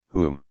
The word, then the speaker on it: Hume: essays David Hume private how about Hume sleeper whom private Hume pronounced Hume of the standard of taste sleeper